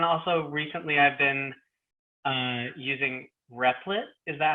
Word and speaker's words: Replit: And also recently I've been using Replit. Is that how to say it? Yeah, or we just call it REPL, but yes, absolutely.